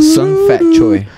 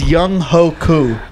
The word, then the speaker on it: Young Ho Koo: Sung Fat Choi. Dude, that's super close. It's Young Ho Koo. That was not close at all.